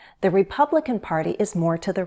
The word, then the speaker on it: Republican: Republican. Republican. Primary stress is on the second syllable. Republican.